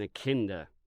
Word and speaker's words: echidna: An echidna, I think. It starts with an E. It's pronounced like itch.